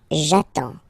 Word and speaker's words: j'attends: So the first form will be j'attends, j'attends, okay? You get D and S, well, basically you don't pronounce them, okay? And then you get only the sound attends.